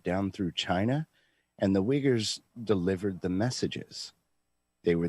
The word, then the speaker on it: Uyghurs: So the Uyghurs, and I'll say it properly because I'm not afraid.